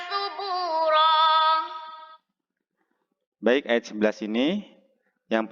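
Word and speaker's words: ثُبُورًا: Kemudian subuh ya, baknya panjang satu ayunan, ro yang berada di akhir ayat itu dibaca panjang satu ayunan juga.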